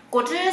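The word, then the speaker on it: 果汁: Entonces, siempre solo pronunciamos la primera parte, que es la parte que es bajo.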